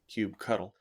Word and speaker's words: kubectl: The kubectl utility, or as some people pronounce it, kubectl, is the command line tool for managing your Kubernetes cluster.